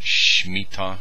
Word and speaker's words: Shemitah: They pronounce it Shemitah, by Jonathan Cahn.